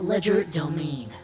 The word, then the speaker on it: Legerdomain: Horus Dimension known as Ledger domain please that's how you pronounce it in your designated headgear